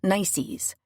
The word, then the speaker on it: NCIC: NCIC, pronounced "nicees," is the National Crime Information Center.